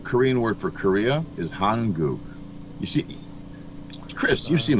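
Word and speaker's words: 한국: you say well Korean word for Korea is hanuk. You see Chris you've seen those tires. You know those tires don't you? The hankuk.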